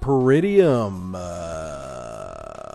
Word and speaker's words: Peridium: fun we're talking about per idiom pretty of is that how you pronounce it that is how you